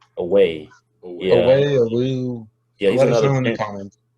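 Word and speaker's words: Oweh: Away? Away.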